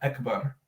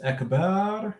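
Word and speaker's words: أكبر: those are different words it's not akbar if a person says echeba it's a completely different word um yeah i mean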